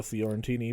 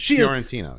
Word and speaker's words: Fiorentino: I'd kind of prefer Joey Lauren Adams over Linda Fiorentini. But, I love Linda Fiorentino. I don't have any problem with her. I think she's great in it. How would you pronounce her name? Fiorentino.